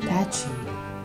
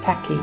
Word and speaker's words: Pachy: more correctly all right and not patchy but it's Packy guys okay and that